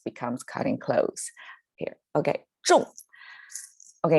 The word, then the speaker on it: 中: Okay, normally this pronounced as 中, but when it becomes an action verb, it is 中, like right on point, spot on, right? It becomes 中. The pronunciation gets a falling tone instead of 中, the flat tone, the first one.